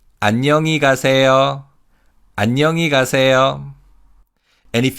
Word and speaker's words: 안녕히: And in terms of pronunciation, again, here in he is barely audible in natural speech. So it's 안녕히 가세요.